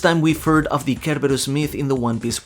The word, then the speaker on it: Cerberus: Just to be clear, I'm going with the Japanese and Greek pronunciation here rather than the English one. This isn't the first time we've heard of the Cerberus myth in the One